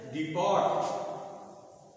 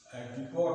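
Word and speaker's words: depot: इसी तरह से डिपट डी प पी रिपोर्ट रिपोर्ट ये रिपो होता है इसका उच्चारण होता है डीप डीप ये ये टीज उच्चारण नहीं होता डिपो इसका उच्चारण होता है डिपो जैसे बस डिपो आप कहते हो सही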